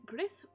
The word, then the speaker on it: Gris: I will be playing Gris. I keep wanting to call it Gris, which is the French way you pronounce it, but it's a Spanish game, and I don't know how to pronounce Gris in Spanish, which I'll have to learn.